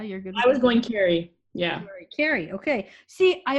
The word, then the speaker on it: Kari: Carrie. Carrie? Carrie Althoria. How do you think you pronounce it? Yeah, you're good. I was going Carrie.